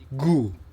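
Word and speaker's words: ぐ: di atas menjadi gi gu itu ku diberi dua petik di atas menjadi gu Oke G itu ke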